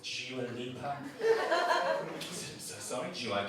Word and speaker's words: Dua Lipa: It's not Dua Lipa, it's Dua Lipa.